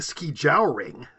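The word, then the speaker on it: skijoring: Here they're saying ski jowering. I don't know how pronouncing it.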